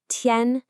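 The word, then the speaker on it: 天: Our next character is tiān.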